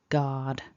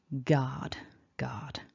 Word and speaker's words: guard: When you look at it written down, it gives you a false clue as to how it should be pronounced. So it's just a nice short guard.